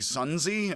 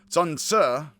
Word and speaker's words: Xunzi: it looks like z you could be like sun z like it is sun su it's got an uh at the end again